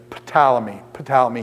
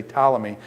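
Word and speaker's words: Ptolemy: scholar and Dave says pamy pamy he pronounces the p i do it more like pneumonia where the the p goes silent so I say talmy so I've heard it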